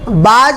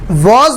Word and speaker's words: was: दोस्तों कई लोग WAS को बाज बोलते हैं। दोस्तों WAS को हम वॉज बोलते हैं।